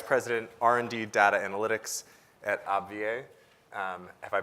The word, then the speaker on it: AbbVie: We have Jennifer Van Camp, Vice President, R&D Data Analytics at AbbVie. Have I pronounced that incorrectly? AbbVie.